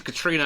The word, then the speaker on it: Catriona: for pronouncing every vowel she's actually got lots of Silent vowels she's Katrina as in the Hurricane Katrina it's the Scottish spelling